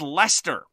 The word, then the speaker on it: Leicester: And then we're going to talk about our feature game, which is Leonardo da Vinci's Codex Leicester, spelt L-E-I-C-E-S-T-E-R, very much like Worcestershire sauce, which is pronounced Worcester sauce.